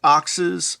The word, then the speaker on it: OXS: uh quality well-made oxes it's pronounced oxes thunder light so they